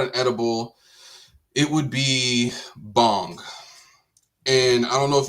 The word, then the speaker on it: bhang: If I had to put out an edible, it would be bong. And I don't know if you know what that is, but it's spelled BHAA.